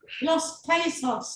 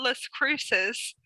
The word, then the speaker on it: Las Cruces: Los Cacos or something. Cacos. How do you pronounce it? What is it? Los Cacos. I call it Las Cruces.